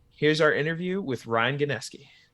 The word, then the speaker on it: Gnieski: pronounce the last name we say ganeski but like doesn't make sense phonetically so it's however you want to interpret it man hey you know